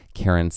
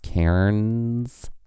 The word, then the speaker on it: cairns: to tell us that Karens is technically pronounced Cairns. Like it's a one syllable word.